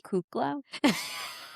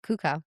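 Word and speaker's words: Cuoco: What's her real name is Kaylee Kukla. Why can't we pronounce her last name? It's Kaylee Kukla. It's not it. No. It's Kaylee Kuka. Kaylee Kuka. Yeah. Is that right? Yeah. Kiko. No, Kuko.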